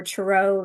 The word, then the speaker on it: tarot: So for those who don't know anything or very much about tarot or tarot, as they say, what is the major and minor arcana, if you might don't mind?